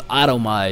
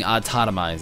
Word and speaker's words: autotomize: day pronounced a toiz I thought it was automized his entire mine entire M no entire time uh but it ended up being autotomized you know but I